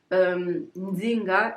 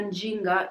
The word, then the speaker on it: Nzinga: Encore une petite note, il y a plusieurs prononciations de Nzinga. Donc il y a Nzinga, il y a Njinga, il y a Singa, il y a Zinga. Donc il y a vraiment plusieurs prononciations. En y pensant, je pense peut-être que Njinga, peut-être c'est la plus proche de la prononciation actuelle du nom, mais je ne suis pas sûre.